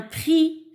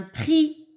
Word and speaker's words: prix: miettes donc jean tour un prix un prix oui il ya les tricks mais ne se prononce pas alors jean tour